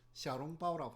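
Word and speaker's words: 小笼包: 있는 소와 만두를 먹는 형태로 형태의 만두를 소룡포 샤론바오라고 합니다 사진 한번 보도록 하죠 소룡포 사진도 제가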